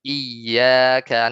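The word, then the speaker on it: إياك: Iyyaka ini harus tulis apa bacanya dengan nabar. Iyyaka na'bud misalnya. Iyyaka na'bud. Tapi misalnya nggak nabar jadi iyyaka ya iyyaka na'bud ya. Nah, itu hanya masalah nabar atau tidak ya, nabar atau tidak.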